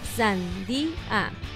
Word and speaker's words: sandía: La respuesta correcta es en tres sílabas, sandía.